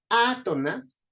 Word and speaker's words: átonas: Entonces, átonas, a sería la sílaba tónica de esta palabra, to y nas serían sílabas átonas, ¿sí?